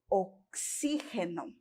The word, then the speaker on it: oxígeno: No português nós temos oxigênio. E em espanhol nós vamos ter oxígeno, tá bom?